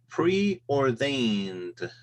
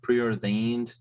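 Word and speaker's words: preordained: next one is uh pre or veined so okay uh pronouncing that correctly but it's pre-ordained and my question is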